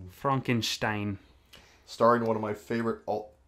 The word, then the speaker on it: Frankenstein: It's pronounced Frankenstein. Frankenstein.